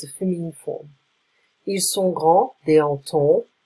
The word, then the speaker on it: grands: Ils sont grands, they are tall. We add an S, we don't pronounce it.